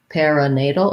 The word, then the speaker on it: perinatal: a schwa or a perinatal or perinatal um main stress though on that nay syllable that's where you want your length um let's see and